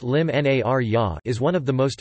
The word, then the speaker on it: l-Imnarja: Narja, or Elim Narja, pronounced Lim Nar-ya, is one of the most important dates on the Maltese cultural calendar.